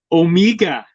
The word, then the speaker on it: Omega: voice but like accent omega or my name is omega no it's omega pronounce the word o mega there there's no no